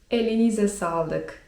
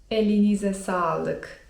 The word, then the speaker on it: elinize sağlık: eline salyk) To jest mniej formalne, a bardziej formalne: elinize sağlık (czyt. elinize salyk) Jeżeli chcemy zwrócić się do osoby starszej to lepiej tej formalnej, drugiej wersji użyć.